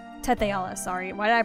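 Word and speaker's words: Tethe'alla: a man named nebim who attempted to conquer tealia Teala sorry why did I pronounce it like that uh nebim was eventually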